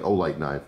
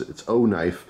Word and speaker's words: OKnife: I keep wanting to say it like Olight knife, but no, it's OKnife. I guess it's its own branding, really.